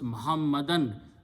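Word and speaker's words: محمدًا: last letter and change these two page as to zabar so the word becomes muhammadan meaning does not change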